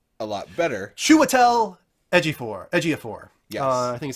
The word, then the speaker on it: Ejiofor: like this choice a lot better Chiwetel Ejiofor Ejiofor yeah I think is how you say his